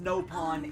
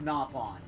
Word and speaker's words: Nopon: It is not pronounced no pawn. It's napon.